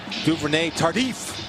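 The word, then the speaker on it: Duvernay-Tardif: Duvernay Tardif. That's how he pronounces it.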